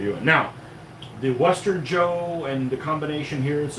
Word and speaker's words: Zhou: spelled which is uh pronounced Joe. Like it was j o, so.